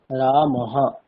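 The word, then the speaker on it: রামঃ: বিসর্গের উচ্চারণ হকারের মতো হবে, যেমন রামহা, এখানে উচ্চারণটি হবে রামহা, অর্থাৎ যে বর্ণের পরে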